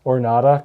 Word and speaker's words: Ornata: Ornata, because it rhymes with Armada.